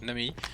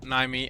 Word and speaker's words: Nami: actually pronounce it okay thank you so much nami it's me not naimy i'm so sorry please